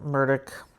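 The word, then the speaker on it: Murdaugh: I know it's spelled Murda, but they pronounce it Murdoch.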